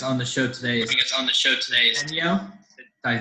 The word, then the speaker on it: Centio: And joining us on the show today is Centio. Did I say it right? Centio.